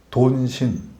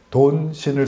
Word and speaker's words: 돈신: 신앙이 됩니다 종교가 돼요 돈신 돈신 발음을 유의하셔야 돼요 돈신 뭘 았는지 모르지 돈신